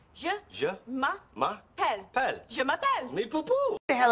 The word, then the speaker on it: je m'appelle: Je m'appelle.